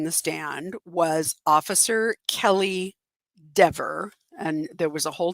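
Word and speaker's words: Dever: So, um, the next person on the stand was Officer Kelly De, and there was a whole dust up about how to pronounce her name. Um, it's dee ver, but, uh, she pronounces it de.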